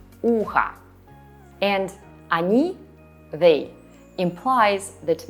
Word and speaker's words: ухо: As we spell o at the end, ухо will be neuter, not feminine, even though we hear a, ухо.